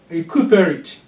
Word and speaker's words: recuperate: Recuperate. Q is stressed.